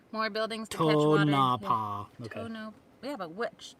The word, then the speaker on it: Tonopah: Emphasis on the first syllable. Tonopah.